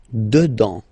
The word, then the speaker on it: dedans: Dedans, final S not pronounced. Dedans.